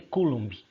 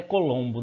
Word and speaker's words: Coulomb: Um condutor ele é atravessado por uma carga de 0,5 Coulomb, aquele C, a gente fala, a pronúncia certa deve ser Coulomb, mas os alunos na aula falam até Colombo, né?